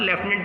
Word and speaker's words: lieutenant: देखिए आप यहाँ पर लेफ्टिनेंट की स्पेलिंग नज़र आ रही है, ये LIEUTENANT, इसमें लेफ्टिनेंट की स्पेलिंग में कभी भी F नहीं होता है।